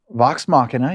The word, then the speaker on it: Vox Machina: when I was watching Vox Machina, am I pronouncing that correctly? Yes, Machina. Vox Machina, you're doing it Vox Machina.